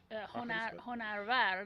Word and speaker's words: Honarvar: Oh, it's Honarvar. That's how it's pronounced. Of course, I messed up. No, but it's a really bad. hard one. It's a hard one to pronounce in English, and it means actually Honar, Honar, means art, and Honarvar is someone, I guess, who is somehow related to the arts.